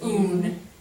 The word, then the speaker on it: un: right yeah so it's un it's it's this one is pronounced like that un and then una yeah so there's no nasal at all in Spanish okay oh gosh yeah